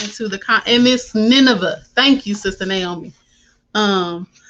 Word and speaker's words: Nineveh: can't hear the sound y'all on how to pronounce this okay okay so it's nineveh i'm sister naomi why don't you take so